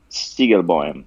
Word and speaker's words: Siegelboim: Um, it's pronounced Siegelboim, but Whoa, that's like the Spanish version of it. Like seagull, like the bird, and boim, like bomb.